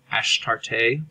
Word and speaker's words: Astarte: His consort, his girlfriend, is Astarte, sometimes pronounced Ashtarte, or a variation of Ishtar.